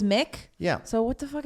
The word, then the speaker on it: McInnes: But if it's MC consonant, like McDonald's, it's pronounced Mick. No, that's malarkey. If it's Mac, Really? it's M-A-C. Okay. And if it's just MC, it's It's Mick. always Mick?